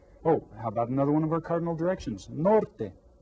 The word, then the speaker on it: norte: Norte. How many syllables? Say it again. Norte. Which one is stressed? The first one.